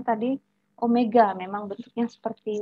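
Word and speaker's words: ω: W itu juga bacanya bukan W ya, itu omega.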